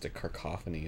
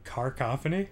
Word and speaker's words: cacophony: Just a cacophony of deliciousness. Carcophony? Yeah, carcophony. pronouncing a non-existent R? Yep. I'm gonna add another R. It's a carcophony.